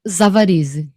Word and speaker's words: Zavarize: Eu só não sei como que eu pronuncio o nome J. dela. Zavarize. Zavarize. J. Zavarize. J. Zavarize? J. Zavarize. Zavarize.